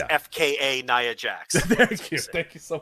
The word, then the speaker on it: Nia Jax: got this because i studied up it's fka naya jax thank you thank you so much in the